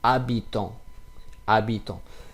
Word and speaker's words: habitant: It will be not habitant, but it will be habitant.